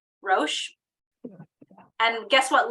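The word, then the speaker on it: ראש: Rosh.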